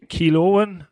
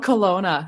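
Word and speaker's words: Kelowna: the name but it's k k kiloan I don't know oh so close Colona it's called Colona oh God I got it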